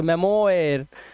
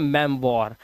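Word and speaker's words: memoir: मेमोयर नहीं इसे पढ़ते हैं मेम वॉर। ये ओ आई जो होता है ये वा बन जाता है।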